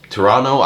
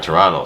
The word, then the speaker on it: Pterano: So this is the Beastdrive Drive Pterano. I'm assuming that's a silent P over there, from 5-2 Toys.